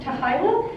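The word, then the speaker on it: t'hy'la: between spock and kirk it's i think it's pronounced tahila uh i believe it pronounced it's like you know vulcan word oh it's a vulcan word yeah it's like t-h-y-l-a yeah um and said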